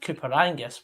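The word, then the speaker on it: Coupar Angus: not par or something when i say cooper is spelled c-u-p-a-r and that's not to be confused with cooper angus which is probably about an hour north oh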